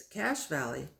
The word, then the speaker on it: Cache Valley: Susanna began to laugh yes it's cash Valley but it's spelled ch ch II not CA SH as in money darn the luck that's